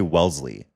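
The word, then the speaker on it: Wellesley: Wesley is what it actually is spelled like, but then you say Welssley.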